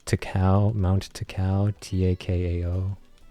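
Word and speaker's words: Takao: like to cow mounted to cow t-a-k-a-o my pronunciation sucks but I think that's how you say to Cal Takeo I don't know yeah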